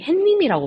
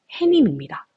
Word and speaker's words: 해님: 여러분들 많이 헷갈리실 텐데 제가 아마 단언컨데 거의 한 90% 이상의 학생들이 햇님이라고 발음을 할 것 같아요 근데 여러분들 표준 발음은 놀랍게도 혜민입니다 입짧은 혜민 자 그러면